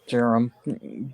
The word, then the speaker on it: Durham: I'm I'm part Jewish my last name is just pronounced Durham but because of the way it's spelled people think it's Durham it's just Durham or drum hey but it's it's just Jerome d-u-r-h-a-m I call it drum ain't nothing wrong with